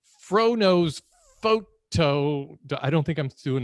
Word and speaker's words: Fro Knows Photo: froknows photo but you you can't really say it like that it's fro-nose photo i don't think i'm